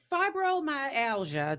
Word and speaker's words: fibromyalgia: So fibromyalgia, did I pronounce it correctly?